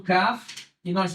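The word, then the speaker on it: כן: tranquilidade muito bem então Aqui nós temos o k e nós temos outro ser eu da gueixa uma vez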